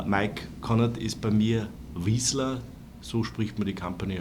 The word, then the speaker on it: Vizsla: Mike Konnert ist bei mir Vizsla, so spricht man die Company aus.